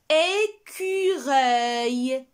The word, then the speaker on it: écureuil: Écureuil. Écureuil. C'est un petit animal. Écureuil. On entend le son œil à la fin qui s'écrit avec E-U-I-L, car c'est un nom masculin.